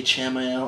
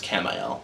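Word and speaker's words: Camael: Now, he said, uh, do you say Chaml? I don't know. It's spelled Chamal, but it's Camal.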